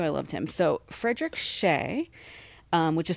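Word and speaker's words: Hsieh: So, Frederick Sheay, um, which is spelled H S I E H, was a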